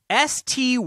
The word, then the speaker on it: Stuart: Stuart from the UK here, pronounced STYU-URT rather than STOO-URT.